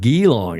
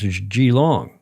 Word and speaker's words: Xilong: How do you pronounce it? It's not geong, is it? It's giong.